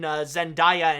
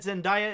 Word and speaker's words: Zendaya: Also, may I add that Zendaya is pronounced with an I-ya instead of ya.